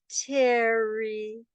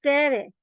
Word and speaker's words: Tere: Ah, Terry. No, it's Tere. No, it's pronounced Terry. No, it's pronounced Tere. No, watch my mouth. Terry. Terry. See? No, it's Tere. It's always been Tere.